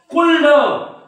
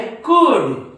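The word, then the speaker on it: could: कसं वाचतील बघा याला कुल्ड कुल्ड शुल्ड काय म्हणतात ते कुल्ड उल्ड शुल्ड पण हे कुल्ड नाही उल्ड नाही शुल्ड नाही हे आहे कुड काय आहे कुड हे आहे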